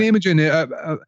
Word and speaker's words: Imogen Heap: Imogen, yeah.